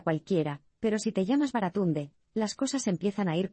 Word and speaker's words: Baratunde: Lo han llamado Barracuda y Camarero, mientras que otros profesores, asustados ante todas esas sílabas, simplemente lo acortaron a Brad. Para que conste, Baratunde se pronuncia Baratunde.